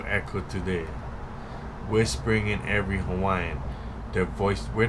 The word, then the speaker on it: Hawaii: Hawaii. So the V is the W is pronounced V.